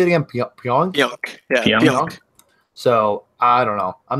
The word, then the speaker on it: Pionk: Yeah, Pionk.